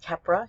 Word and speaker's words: Keppra: and that's known by the brand name of Keppra. Here we have an extended release formulation, Keppra XR.